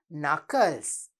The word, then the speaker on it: knuckles: But we have a silent K. Starting with a silent K.